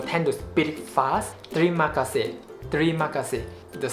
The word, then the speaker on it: terima kasih: When you say the T alphabet in Malay language is actually unaspirated. You need to keep the A inside your mouth like terima kasih. Terima kasih, not terima kasih, no.